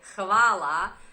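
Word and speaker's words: hvala: as you can see the H is pronounced in the Croatian language it's ha ha huh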